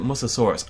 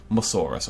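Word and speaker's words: Mussaurus: Everyone calls it Musasaurus. I call it Musasaurus all the time, but it's definitely Musaurus or Musaurus.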